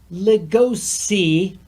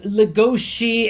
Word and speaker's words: Legosi: to State categorically the main character's name is legosi the deer's name is Lewis because the original Japanese had the Japanese pronunciation and people in America are calling him legoshi and ruis please for [ __